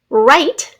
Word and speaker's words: write: It is the R sound at the beginning of a word, sometimes spelled with a silent W. So silent W and then an R. Wrong, W-R-O-N-G. Right, wrist, W-R-I-S-T. Write, to write a letter to your grandma, W-R-I-T-E.